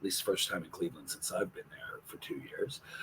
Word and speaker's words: Samhain: correctly yes it is sin it looks like it's pronounced Sam Hayne but it's actually a Gaelic ancient pronunciation and uh sin is